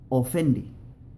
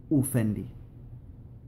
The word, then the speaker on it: ofendi: Si la palabra comienza con O, se pronuncia O. Fijaos que a veces muchos chamorros pronuncian la O como U en este caso, aunque no es correcto.